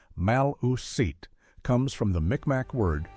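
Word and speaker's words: Maliseet: It is thought that the tribal name Maliset pronounced Maluset comes from the Mcmack word for broken talkers.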